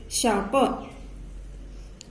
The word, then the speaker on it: sharper: So R is silent here. We pronounce it as sharper.